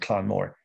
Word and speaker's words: Clann Mhor: Clann Moore or Clann Vor? No, I did. Maybe I missed that. All right. Well, it's a small organization, and it's Clann Moore. Well, we pronounce it Clann Moore. C-L-A-N-N. Yeah, Clann Moore.